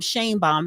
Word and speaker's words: Sheinbaum: want to pause right there right because um Shan bomb that's how you say it okay they're saying